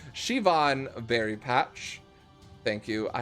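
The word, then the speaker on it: Siobhan: my name is uh sobehan oh sorry shivan very patch thank you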